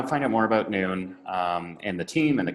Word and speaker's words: Nuun: find out more about noon and the team and the company and our products if you go to noon and at uun so as a midday but spelled with use instead of o so nu u n